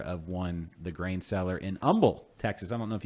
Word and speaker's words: Humble: know that it's pronounced humble and not humble.